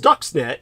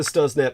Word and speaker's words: Stuxnet: It's spelled Stuxnet. Like you would think it'd be pronounced Stuxnet, but it's pronounced Stuxnet. And that's a sophisticated computer